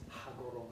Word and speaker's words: Hagoromo: While you are thinking, I have a question about Hagoromo. Uh-huh. You have to pronounce the H, see. It's Hagoromo. Hagoromo.